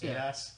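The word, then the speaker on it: Eidos: ADOS?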